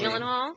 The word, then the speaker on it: Gyllenhaal: Gyllenhaal. Is that how you say it? Yeah, from Brokeback Mountain. Jake Gyllenhaal.